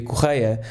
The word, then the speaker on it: Correia: am in fact Portuguese my name is actually pronounced and choir but for the purposes of this podcast will